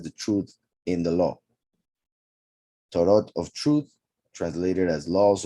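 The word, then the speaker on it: תורה: Torah is the plural of Torah. Torah is feminine, ends with a hey, pronounced a, Torah, therefore feminine.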